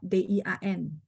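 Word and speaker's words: 电: Bahasa Mandarin memang tulisnya D-I-A-N. Tapi bacanya dia agak E ya, Dian.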